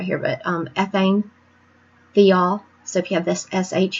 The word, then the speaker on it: thiols: And I'll just tell you right now, I pronounce this thiols half the time, but I think it's actually pronounced thiols.